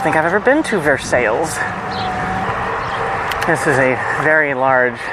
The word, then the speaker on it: Versailles: So, as much as it pains me, the town is in fact actually pronounced Ver Sales. I don't think I've ever been to Versailles.